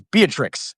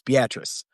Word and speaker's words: Beatrice: They'd be like, this is Beatrix, and I'm like, no, it's not. It's Beatrice. Like, it's like not. It's how it's spelled.